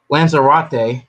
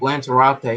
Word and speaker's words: Lanzarote: How you pronounce it? Lanzarote. Yep, Lanzarote.